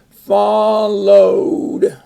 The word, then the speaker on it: followed: to the top followed followed is two syllables but only because you have an extra syllable there but this this ending doesn't add a syllable followed notice that's a long o w not ow but o and then we have